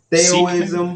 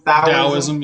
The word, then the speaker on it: Taoism: Theoism. Either way. Is that how you say that? Theoism? Taoism, yeah. Which is pronounced like a D.